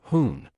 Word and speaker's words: 结婚: it with the word jiéhūn. While "hoon" has a negative connotation, referring to someone who doesn't follow traffic rules and creates traffic crises, its pronunciation is quite similar to 昏 We can use a negative concept to reinforce the idea.